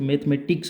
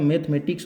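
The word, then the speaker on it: mathematics: Subject का ही काम जैसे मैथमेटिक्स हो गया। क्योंकि इनको बोलेंगे तो अपने मैथमेटिक नहीं बोलना। शुद्ध उच्चारण होता है जो मैथमेटिक्स होता है जैसे यह दे रखा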